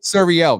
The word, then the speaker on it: Suriel: And for my name is Suriel too. Suriel, not Sir.